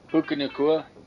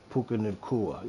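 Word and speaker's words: Puka Nacua: Puka Nakua. Puka Nakua, yes.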